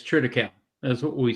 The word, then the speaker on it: triticale: Is it critical? I think is how you pronounce it on the East Coast, or is it different? Yeah, it's triticale.